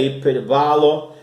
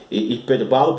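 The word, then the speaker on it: ὑπερβάλλω: Você não estranhe eu estar falando hiperbalo, porque é a pronúncia correta na língua grega, apesar de ter escrito aqui o perbalo, né? Mas a pronúncia correta do grego é hiperbalo, que significa extraordinário, né?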